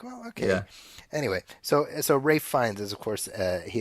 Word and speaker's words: Ralph: Rafe Fiennes. Rafe Fiennes, Ralph Fiennes, Rafe Fiennes. Ralph. I think I'm looking at a typo actually that I'm reading. No, it's spelled Ralph, but it's Is it?